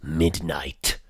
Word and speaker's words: Midknight: Midnight. Only it's spelled with a K. You know, Midknight.